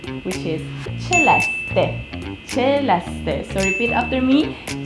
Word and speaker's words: Celeste: So I heard so many people call me Celeste, Celeste, Celeste, Cele, like that, or there's so many. I heard like so many pronunciations, but I just wanna say in this video the correct way of saying my name, which is Celeste.